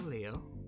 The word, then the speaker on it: Leio: So, my name is Leio, pronounced L-E-O.